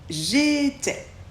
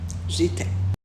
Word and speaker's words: j'étais: I se prononce e et le S on ne le prononce pas j'étais tu étais pour tu